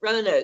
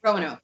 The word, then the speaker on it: Roanoke: Roanoke. Yeah, Roanoke. Yes. We'll do we'll do the pronunciations for each other, because I say everything.